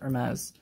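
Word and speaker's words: Hermès: If this is real Hermes, and that's how you pronounce it, Hermes, this is absolutely insane.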